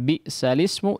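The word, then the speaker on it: بئس الاسم: surat Al-Hujurat ayat 11 ini tulisan bi'salismu dibaca lismu. Ya. Bi'salismu ini secara tulisan adalah di yang bagian sebelah kiri, ya. Tapi secara bacaan dibaca yang sebelah kanan.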